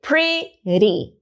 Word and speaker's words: pretty: Pretty. Mesma coisa, a sílaba forte é pre. Então, eu posso fazer uri.